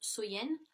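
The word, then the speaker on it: Samhain: nuit de l'année donc était samen donc qui est prononcer qui se prononce soyen et donc il croyait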